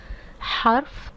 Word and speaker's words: حرف: But I would like you to pronounce in Arabic. harf, ism, fi'l.